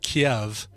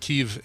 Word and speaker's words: Kyiv: This is one of those things that we've been so familiar with the Anglification of Kiev. Yeah, it's never been Kiev. It's always through Chicken Kiev and KIEV and all that. It's really pronounced Kyiv, and that's the Ukrainian